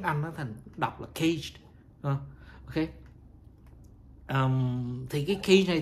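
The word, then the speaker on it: CAGED: lại nó thành cái tiếng Anh, nó thành đọc là cage.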